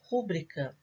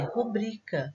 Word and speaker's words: rubrica: Como a pronúncia dela é rubrica, a sílaba tônica dela é essa do meio, a penúltima.